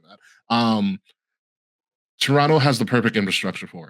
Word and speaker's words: Toronto: a person who has been in Toronto recently or Toronto, sorry, not the T is silent. I'd be killed if I if someone heard me say that. Um, Toronto has the perfect infrastructure for it.